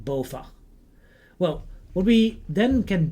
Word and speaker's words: BOVAG: And because of the fact that this is a Dutch acronym, I will pronounce it also in Dutch and I will refer to it as being BOVAG.